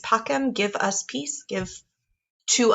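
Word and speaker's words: pacem: and obies and then because of sun latin using ecclesiastical pronunciation they actually say pachem if you sing it dona nobis pachem but if we're sticking with our classical pronunciation it is pockham donut nobis pacum give us peace give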